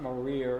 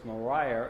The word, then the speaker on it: Mariah: And about 12 or 14 years ago, I was doing this presentation, and someone in the audience said, her name is not Maria, it's Mariah, and she was one of my ancestors.